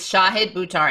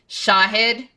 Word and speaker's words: Shahid Buttar: And his name again is Shahid Buttar, and it's pronounced like this, guys. Shahid.